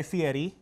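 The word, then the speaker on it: Fieri: was visited by uh Mr guy Fetti of the r spaghetti rhymes with spaghetti uh uh for diners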